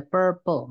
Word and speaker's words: purple: itu apa misalnya ada Purple ini bacanya per ya bukan par teman-teman banyak yang bilangnya